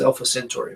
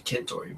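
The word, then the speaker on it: Centauri: Everyone says Alpha Centtory, but it's actually Kentory by the Latin pronunciation.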